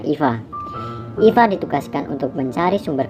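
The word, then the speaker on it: EVE: robot itu bernama Eva di sini tulisannya Ify ya kita bacanya Ifa Ifa ditugaskan untuk mencari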